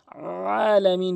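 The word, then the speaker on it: العالمين: এই আইনের জায়গায় অধিকাংশ লোক হামজা এনে উচ্চারণ করে যার ফলে অর্থ চেঞ্জ হয়ে যায়। আলামিন বলতে হবে।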